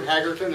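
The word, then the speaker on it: Haggerton: coming after i said my name is jim hagerton and a little bit of an introduction on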